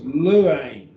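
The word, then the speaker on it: λύειν: There's your stem, lu, and then a diphthong, that is epsilon iota. So it's two syllables, luane, luane.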